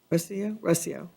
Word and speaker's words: Recio: Now I'm ready to call Recio. How do you say it? Recio.